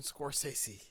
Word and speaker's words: Scorsese: The 1995 movie Search and Destroy by New Image Films and Martin Scorsese. I don't know how to say it. Like that. Scorsese. Right Martin off the bat, Scorsese.